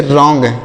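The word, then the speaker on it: wrong: डब्लू आर ओ एनज रंग यहां पर डब्लू साइलेंट है डब्लू साइलेंट है मतलब हम इसे नहीं पढ़ेंगे इसको राइट नहीं राइट पढ़ना है यहां पर डब्लू से तो व होगा लेकिन यहां पर डब्लू का प्रोनंसिएशन नहीं होगा हम इसे नहीं पढ़ेंगे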